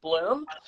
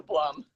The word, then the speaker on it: Blum: My family is from Austria, so correctly you should pronounce it Bloom. But when my mother was pregnant with me, she got so many jokes about her belly blooming that she changed it to Blum.